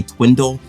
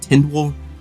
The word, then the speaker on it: Tindwell: First, can we talk about how I always want to say Twindle instead of Tindwell? I don't know why, it's really hard to keep that straight, so if I say it wrong, excuse me.